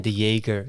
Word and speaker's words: De Jager: fine with yeah also like with my last name I always say the Jaeger yeah so it's like